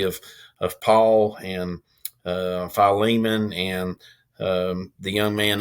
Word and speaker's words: Philemon: philemon um you yeah has everybody pronounced that philemon you know for years i always pronounced it filming uh philemon so i guess everybody